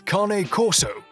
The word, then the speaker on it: Cane Corso: anymore number nine you've probably been pronouncing its name wrong the whole time c a and e kane right well because this originates from italy and